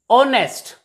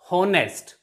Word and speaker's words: honest: as are not har honest not honest h is also silent here and h e